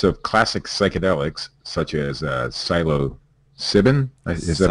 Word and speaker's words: psilocybin: And according to another new study, use of classic psychedelics such as psilocybin, is that how you pronounce that one? Steve, psilocybin.